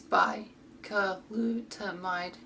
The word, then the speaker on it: Bicalutamide: Its pronunciation is Bicalutamide, and the brand name US is Cosadex.